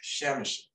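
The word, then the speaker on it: Przemyśl: It says Chemish, but it looks like P-R-Z-E-M-Y-S with a little squiggle L. So believe it or not, it approximately is pronounced Chemish.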